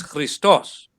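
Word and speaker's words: Χριστός: have this word christos the emphasis is actually on the last vowel here so you pronounce as three stars but if you give the full pronunciation then it's christos christos no no no no sorry christos it's christos but what they want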